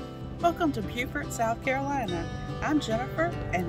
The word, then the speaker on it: Beaufort: Beaufort is the second oldest town in South Carolina, and even though it looks like Beaufort, it's actually pronounced Beaufort.